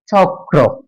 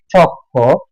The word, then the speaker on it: চক্র: গেল ম আর ম জম্ম আমি যদি বলি চক্র এখন চক্রর মধ্যে শেষে ক আছে এবং র ফল আছে মানে র আছে এখন এই চক্র শব্দটাকে যখন আমি ভুল উচ্চারণ করে বলতেছি চক্ষ তখন ক আর র দুটি ভিন্ন ভিন্ন ব্যঞ্জন